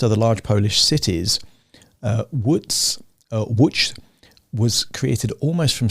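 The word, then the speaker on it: Łódź: Lots is pronounced w.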